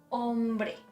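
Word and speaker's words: hombre: that syllable so okay is the h doesn't have a sound ombre ombre blue i know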